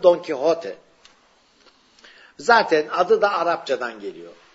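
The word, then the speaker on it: Don Quijote: yazmıştır don kote romanını Yani biz Türkçede Fransız telaffuzu yla Don Kişot diyoruz onun Normal adı don kote zaten adı da Arapçadan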